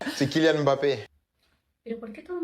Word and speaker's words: Mbappé: Es Mbappé o Mbappé. Kilian Mbappé. Pero, ¿por qué todo el mundo dice Mbappé? La E inicial es una prótesis para la boca que se usa por una incapacidad articulatoria temporal que te impide pronunciar